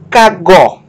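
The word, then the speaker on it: κἀγώ: Kai e ego, os gregos falavam kagó. Kagó. Tá? É quase uma cacofonia. Kagó. Tá? Sílaba tônica é a última, gó. Kagó.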